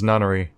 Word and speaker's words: Nonary: Oh, now he knows how to pronounce it. It's Nonary.